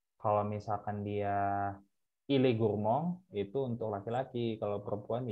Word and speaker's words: gourmandes: Jadi ils sont gourmands, pakai s. Tuh. Nah, kalau cewek dan atau feminang plus plurial, jadinya elles sont gourmandes. Tulisannya gourmandes ya, tapi bacanya gourmand. Sama.